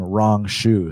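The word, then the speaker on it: Rong Zhu: You pronounce this guy's name Rong Shu.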